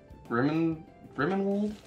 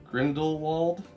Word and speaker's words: Grindelwald: Man, I suck at pronouncing names sometimes. Zawu? Is it from, oh great, The Crimes of Grimmenwald? Grindelwald?